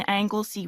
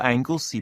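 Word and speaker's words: Anglesea: moment I'm lodging with a family at 13 Angley Road in Bondi okay let me just type that in uh how do you spell Angley by the way it's spelled a n g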